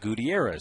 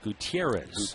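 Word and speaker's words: Gutiérrez: and he said well in Venezuela it's pronounced Gutierrez Gutierrez here's the flip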